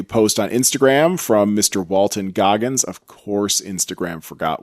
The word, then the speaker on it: Walton: gonna search for him it's not walter it's walton walton w-a-l-t-o-n goggins for all of you